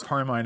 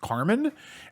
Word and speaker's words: Carmine: I also like to hear that you're having name troubles cuz for my entire life every time I say my name is Carmine everyone always goes Carmen and it's just like no, my name is Carmine and I've stopped I've just stopped correcting people.